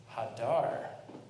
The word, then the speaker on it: Hadar: Rather, read it as pre-Eitz Hadar. Maybe you didn't hear the difference. But there is an emphasis on the final syllable, which is to say the fruit of a tree that dwells, that lingers.